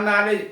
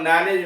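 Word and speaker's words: knowledge: जानना, उससे बनता है नॉलेज, KNOWLEDJ। और नॉलेज में आप देखेंगे KWD और ये चार अक्षर साइलेंट। अब आइए एक नॉलेज, के साइलेंट है नॉलेज में, लेकिन जब AC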